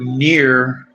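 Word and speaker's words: NieR: When Near was released back in 2010, it received mixed reviews from a number of different sources, but it's called Near. I was pronouncing it right.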